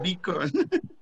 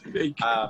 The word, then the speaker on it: Bacon: Remember, the name of the street is Bacon, and I said Beacon. and everybody laugh about me, but I learned how to pronounce Bacon. Yes, Bacon.